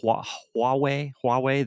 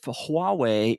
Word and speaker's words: Huawei: Kind of, NVIDIA and their arch rival, the America's NVIDIA, China's their arch rival is I think it's pronounced Huawei.